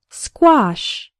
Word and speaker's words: squash: in the word square the letter A has the AH sound like in father and wash and the final SH sounds like in fish and cache say the word after me squash the word squash refers